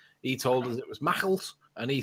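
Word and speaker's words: Maughold: Well, can I also just point out that Mackalt is pronounced Mackalt and not Morgold or anything else like that?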